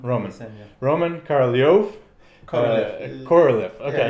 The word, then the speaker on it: Korolev: Korolev. Okay. Yeah, it's easy. I'm trying to just switch from Russian pronunciation.